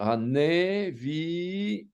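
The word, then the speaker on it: נביאים: qui est en dessous, il va être prononcé E. On va devoir l'entendre, quoi, hein, puisqu'on sait qu'un sheva peut être muet aussi, quoi. Donc on va dire Haneviim.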